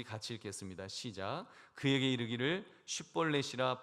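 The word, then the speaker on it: 쉽볼렛: 그러니까 그러면 한번 발음해봐. 쉿볼렛 이렇게 발음해봐.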